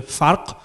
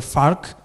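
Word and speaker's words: فرق: So it's kalam or qalam, and the same with the word difference, which may be pronounced in four different ways, because it's either farq or fark, or park or park. depending on the dialect in which it is used.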